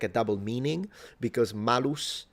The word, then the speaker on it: malus: a double meaning because malus and malus they sound almost the same. The only difference being the length of the vowel and it can mean apple or evil.